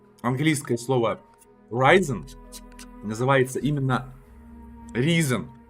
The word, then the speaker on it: Risen: Но эта игра, так как это делали ее германцы, вот, она не читается по-английски, она читается Risen.